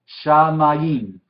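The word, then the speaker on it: שָׁמַיִם: Pero en este caso, como la patah, yod y la hirek funcionan como una unidad, entonces mayim es una sílaba, ¿sí?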